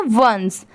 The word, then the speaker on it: once: यहाँ पर ONCE है, मतलब यहाँ पर ON ऑन, CEC, बट इसकी प्रोनाउंसिएशन क्या है? वंस. ठीक है, इसे हम क्या पढ़ते हैं, वंस।